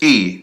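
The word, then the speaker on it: 一: This is E, means one.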